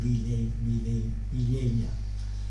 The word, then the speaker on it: Villella: Y dice en el otro pueblo, ellos dicen Villella, con E tancada, E cerrada, ¿no?